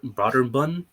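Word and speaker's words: Brøderbund: to do publishers broad broader bun that's how you pronounce it even though it has the accent over those oh boom i think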